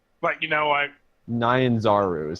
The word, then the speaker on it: Nyanzaru: I thought it was Ninezu. But you know what? Nyanzaru is how it's pronounced.